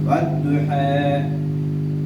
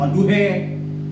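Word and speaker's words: والضحى: Imalah itu apa? Antara fathah sama kasroh. Bacanya wadduha, bukan wadduhe.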